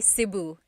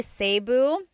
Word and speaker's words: Cebu: So, technically in the Tagalog alphabet, the letter E can be pronounced E or E like the letter I. So, I say Cebu. Cebu. And I know some people say Sabu, but usually it's either Cebu or Sebu.